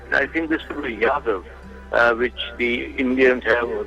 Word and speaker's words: Yadav: I think this will be Yadav, which the Indians have, or they pronounce it Jadu, whatever his name is.